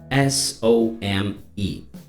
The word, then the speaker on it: some: Então, quando eu termino a palavra some, S-O-M-E, some, consegue perceber que o M é a letra, o som final, some. Então você fecha a boca para conseguir pronunciar o some corretamente.